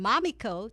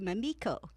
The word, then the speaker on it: Mamiko: myself such as even changing the pronunciation of my name so that it was a little softer from mommy Co to Mamiko great I'm glad thank